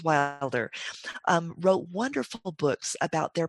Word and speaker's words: Wilder: gloria laura ingalls wild laura wilde i'm saying her name wrong laura laura ingalls right laura ingalls wilder wrote wonderful books about